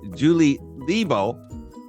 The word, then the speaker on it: Julie Lebow: So anyway, so today my guest is Julie Lebow. Is that pronounced correctly?